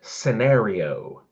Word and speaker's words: scenario: You saidinary and you should say scenario.